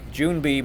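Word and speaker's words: 준비: bug it's a beat June B means ready and I can remind you guys soon be ready kind of rhymes same same sound June be ready the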